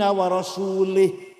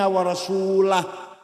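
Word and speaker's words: وَرَسُولُهُ: Wa annallaha bari'um minal musyrikin wa rasulih. Allah tidak melindungi orang musyrik dan tidak melindungi Rasulullah. Salah. Karena baca wa rasulih. Yang benar bacanya wa annallaha bari'um minal musyrikin wa rasulah.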